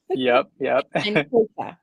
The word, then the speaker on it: Kota: And Kota, right? Yes? No? Kota, yep. All right. You say it for us so we can hear No, it. it's yeah, you said it right, Kota.